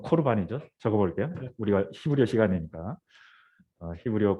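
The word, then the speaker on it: קָרְבָּן: 예, 고르반인데 실제로 발음은 코르반이죠.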